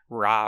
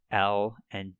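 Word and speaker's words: ら: difficult to pronounce, because you would think that it's like in English, ra, ri, ru, re, ro, but they are a little different. La.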